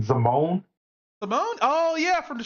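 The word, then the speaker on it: Zimone: that's how you say her name, Zamone.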